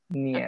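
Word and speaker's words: нет: Bukan nyet, tapi nyet. Niet. Oke. Nyet. Nyet. Jadi Nyet. ketika I terselubung di sini, nyet.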